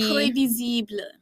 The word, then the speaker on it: prévisible: Prévisible. If I were to say, what does that mean in French? It means predictable. Yeah. Predictable. It's basically like imagine the word Spanish? previsible, but it's pronounced prévisible.